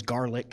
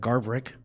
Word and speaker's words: Garverick: new uh basketball coach he couldn't say my name correct so it was always garlic instead of garverick but i wanted to